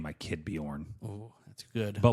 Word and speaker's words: Bjorn: I want to name my kid Bjorn, Oh, that's good. but I like like that. misspell it, like BEE-YORN.